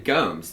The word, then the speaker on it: Gomes: Gomez, we definitely. That's not how you pronounce the name.